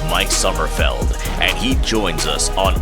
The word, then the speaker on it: Sommerfeld: So first off, am I pronouncing it correctly? Sommerfeld, right? Even better is Sommerfeld. That's how the US guys call me.